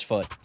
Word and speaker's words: FUT: It's foot. FUT. Yeah, it's Okay.